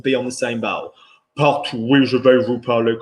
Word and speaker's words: partout: Spell partout from the T. T. O-U-T. Ah. And how do we pronounce an O-U vowel, please? Ooh. Give me your rich baritone. Ooh. Thank you. Partout.